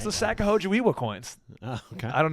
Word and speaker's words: Sacagawea: Well, it's the Sacagawea coins. Oh, okay. I don't know if that's how it's pronounced. It's Sacagawea.